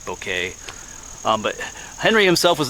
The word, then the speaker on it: Bouquet: the name down here sounds like Henry beauquette but it's French so it's I guess I'm pretty sure I'm saying it correctly bouquet um but Henry himself